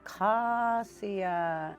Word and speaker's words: Acosia: It's pronounced Kakasiya and it describes a young swan taking its very first flight off water.